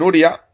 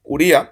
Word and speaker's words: Uría: Eh, dicho esto, voy a leer primero el también los tweets de Rubén Uria, Uría, perdón, creo que se pronuncia Uría, porque, bueno, nos da, nos da detalles bastante interesantes.